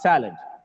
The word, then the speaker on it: salad: here salad salad salad it's not salad it's salad just because of the stress on the first syllable it is pronounced as salad otherwise we would have